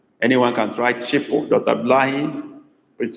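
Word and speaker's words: chịpụ: You try to write the meaning of that chipo, okay? But that, I mean the spelling rather, but it's spelled C-H-I-P-U.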